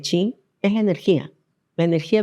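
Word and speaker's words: qi: El chi, que en realidad se escribe la letra Q i, se lee chi, es la energía, la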